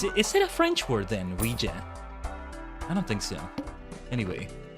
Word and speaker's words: Ouija: I'm going to do Ouija. Ouija. I that's always how I've learned to pronounce it. It's like saying we Is it Is it a French word then? Ouija.